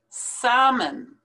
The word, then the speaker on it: salmon: together therein bias bias salmon do not pronounce that l in salmon leopard don't pronounce that